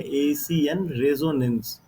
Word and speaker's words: एशियन रेजोनेंस: एशियन रेजोनेंस एशियन रेजोनेंस देखिए यहाँ पे हिंदी में भी लिखा गया है, इसका यही उच्चारण है, एशियन रेजोनेंस।